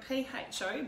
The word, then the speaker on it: pho: It's spelled P-H-O, Beef Pho, so don't go saying Po, will you? You'll really get it wrong then.